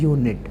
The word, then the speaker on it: ewe: कभी एन लगा दो, इसको हम यू प्रोनाउंस करेंगे। यू एक प्रकार की मादा भेड़ होती है, EWE यू, यहाँ पर ई देख के आप एन मत लगाना, इसकी साउंड यू होती है, यह हमारा व्यंजन है